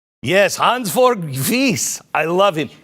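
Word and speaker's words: Hansjörg Wyss: Yes, Hans Georg Wyss.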